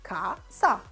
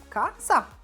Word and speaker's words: casa: It's made out of 2 syllables, casa. Say it out loud, casa.